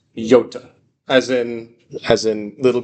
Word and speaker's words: iota: Um the next one is not pronounced iota. It's pronounced yota as in as in little green yod.